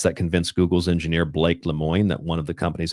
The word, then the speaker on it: Lemoine: name was Blake, and I believe you pronounce his last name Lemoine. Blake Lemoine was convinced that the thing was sentient.